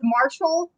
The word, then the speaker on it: Marsal: Is it Marsal? Marsal? I found out only after signing with her. It's Marshall, which there's no H, but that's how she says it.